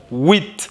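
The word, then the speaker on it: huit: Here, wheat. So we can hear T from afar.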